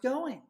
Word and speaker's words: going: And I don't really pronounce that G at the end of the word going. Hey, how's it going?